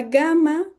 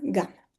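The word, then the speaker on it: gamma: Ahora bien, la gama no se pronuncia exactamente igual que la g, porque nosotros pronunciamos, por ejemplo, G y Ji, cuando no hay una u en el medio. En cambio, en griego todas las ges hay ciertas excepciones, pero que no, bueno, son diferentes a las del español,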